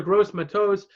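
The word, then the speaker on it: Gross-Matos: a lot of people rely on the torah' gross my toes a 30th overall to the Carolina Panthers I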